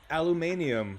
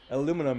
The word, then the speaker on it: aluminum: Because I'm American, I pronounce it one way. If I lived across the pond, I might pronounce it a different way. I Like, pronounce it even more different. Aluminium is what I would say if I was in the UK.